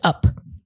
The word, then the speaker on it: UP: So this song is a remake of a 97 song by a co-ed group named Up. Okay. But it's pronounced UP. It's an acronym for Ultra People.